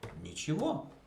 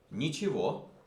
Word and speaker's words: ничего: Завтра я не буду делать ничего. Ничего. Ничего. Ничего. E is pronounced E. G is pronounced V.